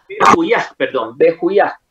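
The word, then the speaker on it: Vehuiah: Bejuyá. Cuando yo digo aj, es que termina en A-H. Ajá. Y se escribe como B corta E-H-U-I-A-H. O sea, Bejuyá. Termina en J, la H se lee como J.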